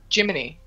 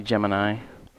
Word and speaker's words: Gemini: program okay so what why do they pronounce it jiminee um because they didn't know any better actually it's actually Gemini yeah not Gemini yeah